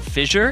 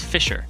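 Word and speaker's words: Fischer: there's gonna be settling apparently it's not Fisher it's Fisher Fisher yes it's an S sound not a sound yeah I was blown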